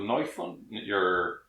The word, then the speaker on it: Neufund: As in, do you pronounce it in German, English, or... It's kind of a portmanteau of German and English, exactly. A little bit, you're pronouncing it a little bit the way it happens to come out.